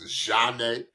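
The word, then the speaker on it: Zhané: In the really popular group named Zhane, pronounced Zhane.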